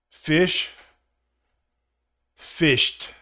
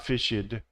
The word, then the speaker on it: fished: past p-a-s-t exact pronunciation fish Ed fished so just just a simple sound one syllable not fishied watch watched watched so you